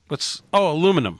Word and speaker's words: aluminum: Aluminum. So, aluminum. Yeah. Aluminium in England. In the UK, it's aluminium. Yep. Yeah. Yeah, in America, we say it right.